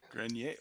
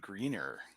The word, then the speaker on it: Grenier: Grenier. Oh, see, I would have gone greener, but I think you're There's only one.